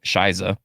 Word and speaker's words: Scheiße: I at first thought it was She Be, but it's actually pronounced how she sings it in the song, Shiza.